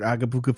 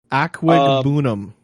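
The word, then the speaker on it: Okwuegbunam: Oh yes, that's Albert Agabuka. Yeah. Nice. Yeah. No, it's Albert Aquagbunum.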